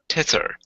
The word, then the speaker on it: tether: up the goat T tether tether te yes it's a voiced th the this tether yes a